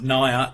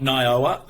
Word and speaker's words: NIOA: that right Naya correct Naya is correct not nayowa Naya okay so um we've